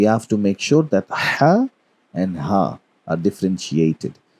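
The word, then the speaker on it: ح: So we have to make sure that ha and ha are differentiated. So ha is basically pronounced from the center of your throat. If you touch your throat, you would feel ha, ha.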